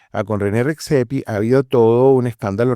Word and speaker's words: Redzepi: Y casualmente con René, el apellido siempre me lo bien pronunciado, Redzepi. con René Redzepi ha habido todo un escándalo reciente a principios